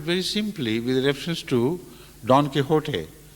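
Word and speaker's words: Don Quixote: simply with reference to Don kot or as it mispronounced as Don Quick shot a an epic work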